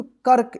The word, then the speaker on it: कर्क: उच्चारण होता है तो इससे पहले जो अक्षर आएगा उस अक्षर के बाद आधा र उच्चारण इसको पढ़ेंगे क फिर य प रे फिर य प क तो क्या पढ़ेंगे इसको कर्क इसको कक मत पढ़िए ठीक है ना जैसे